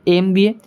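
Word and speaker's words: MBA: তারপরে দেখো 102 নম্বর কোশ্চেনটা রয়েছে এমবিএ ডিগ্রি, এটার উচ্চারণ এমবিএ, এটার উচ্চারণ তাহলে অপশন বি এন হবে।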